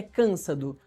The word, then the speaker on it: Cansado: prisão temporária de Felipe Cansado Vorcaro, primo do eh banqueiro Daniel Vorcaro. Produção me corrige aqui que é Cansado.